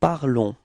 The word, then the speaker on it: parlons: you will get nous parlons. Repeat. Nous parlons. Okay? So keep in mind that final S is not pronounced, okay? So it's only this on, the sound on at the end of this verb, okay?